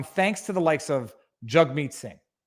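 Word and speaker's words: Jagmeet: likes of jugmeet singh i'm not mispronouncing his name i'm going to make sure everybody knows that that's how he pronounces his name it's on his twitter bio it says jug meat jug rhymes with hug meat yeah i'm a moderate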